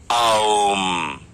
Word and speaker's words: ओम: फिर अपना मुंह पूरा बंद करिए और एक गूंज की तरह आवाज निकालिए और माँ कहिए कुछ इस तरह से। ध्यान रखिए, माँ का उच्चारण आपको पूरा पूरा नहीं बल्कि एक गूंज की तरह करना है। ऐसे जो साउंड निकलता है वो है ओम, ओम नहीं। और यही हमारी जिंदगी है।